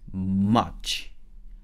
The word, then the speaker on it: much: 그리고 한 가지 더 조심할 거는 much는 한국말로 치면 두 글자죠. much 해서 이음절짜리 단어예요. 근데 영어에서 much는 이름절짜리 단어예요. 한 글자짜리 단어인 거예요. 그래서 한 바퀴만 정확하게 딱 내면서 소리를 한 번만 딱 내주면 돼요. much 이렇게 하면 돼요.